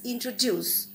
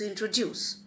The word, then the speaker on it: introduce: So for example, when I speak, when I utter the word introduce, it is introduce.